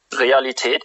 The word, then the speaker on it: Realität: Wow, Realität. you changed. You give a German accent. It's real. What's that? Realität.